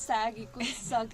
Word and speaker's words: Sagg: So my friend here came across this post on Instagram that Sagg, we pronounce it as Sagg Eco Village is organizing some event, and she literally dragged me into this.